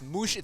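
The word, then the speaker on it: Muhsin: Uh I went with uh I always say his first name wrong. It's Mushin spelled Mushin Muhammad.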